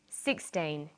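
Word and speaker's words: sixteen: Usually the first syllable in a number is stressed. 16, 60. Notice that it's the final N in teen that you have to be careful with.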